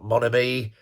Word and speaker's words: Mon Ami: So Motor Vessel Mon Ami, yeah, that's how it's pronounced.